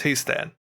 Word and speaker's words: He'stan: But Histan or H or however you want to pronounce it is like that's his name. It's Histan.